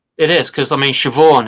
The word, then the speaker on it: Siobhan: Yeah, it is because I mean, Siobhan is SI, right? It's like, how does that make a sound? But it does in Ireland, just and not Sorsha, here.